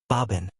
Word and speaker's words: bourbon: So, the name of this whiskey is bourbon, pronounced in English as bobin.